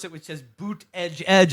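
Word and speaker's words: Buttigieg: campaign sells booth it tells you how to pronounce it which his boot edge edge it's like a phonetic what I thought it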